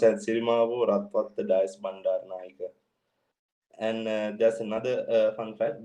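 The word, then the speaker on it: Sirimavo Ratwatte Dias Bandaranaike: It's pronounced as Sirimavo Ratwatta Dias Bandaranaike.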